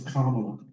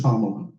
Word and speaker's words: Kamala: Her name is Kamala. To constantly mispronounce her name when you know better, to choose instead to mispronounce her name after being told time and time again how to pronounce it correctly borders on xenophobia, a